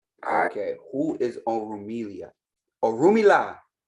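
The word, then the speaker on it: Orunmila: who is on amelia oh rumi la that pronunciation is very important and i'm gonna get into why that pronunciation is important a little further down but or rumila is how you say it i don't know what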